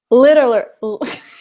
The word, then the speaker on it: literally: Literally. So the difference that I hear is that when you say it, it's literally. You have 3 syllables. Literally. Yeah. When I say it, it's 4.